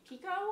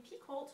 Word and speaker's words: Picoult: I also read A Spark of Light by Jodi Picoult.